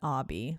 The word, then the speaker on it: Obi: spelled Obi. Obi, yeah, right? That's why I was like Obi, but it's Obby. But he pronounced it Obby.